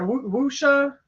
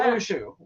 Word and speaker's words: wuxia: Wuxia. It's WUXIA. Not wushu. It's WUXIA.